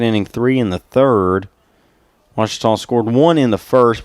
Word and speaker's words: Ouachita: Ouachita. Ouachita. Is it pronounced Ouachita? Searching for Ouachita Baptist University. Back in Texas everybody pronounces it Wichita but really it's Ouachita.